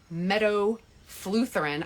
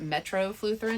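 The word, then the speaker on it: metofluthrin: uses uh something called Meadow Lutheran I mispronounced it in my stories I called it metroflutherin it's Meadow Lutheran and um there have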